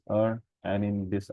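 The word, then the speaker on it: 二: and also there is a Chinese character that is true and it is pronounced as R and in this R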